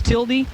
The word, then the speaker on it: tilde: the keyboard thing well everybody says tilde what is that it's tildi St Paulie Saint Paul